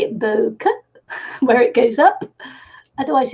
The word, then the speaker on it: bokeh: And some of the paintings I do a technique called bokeh or bokeh. I've actually been looking up how to pronounce that, and some people say bokeh, but in Japanese it's bokeh.